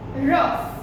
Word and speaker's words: rough: In pronunciation, when this GH, sometimes GH when it is used together, then the pronunciation is not G. The new pronunciation G. The pronunciation is F. F. Right? For example, rough. Rough. Then afterward, tough. See, GH is there, but we are speaking F.